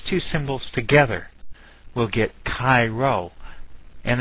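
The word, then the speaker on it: Chi Rho: Well, if we put these two symbols together, we'll get Cairo, and it's pronounced like the city in Egypt, Cairo.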